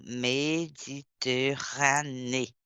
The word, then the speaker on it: Méditerranée: mer méditerran méditerranée méditerranée Regardez l'accent méditerranée. S'il y a un accent, on prononce donc trois mer et un océan.